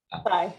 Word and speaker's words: Tsai: Is that Kai or Sai? I'm not sure. Apologies. Yeah, that's right. Last name is Tsai. Sai.